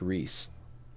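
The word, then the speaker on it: Reese's: the RI es so it's kind of like you take the F off of fries right fries like french fries fries right but it's pronounced Reese Reese Reese yes I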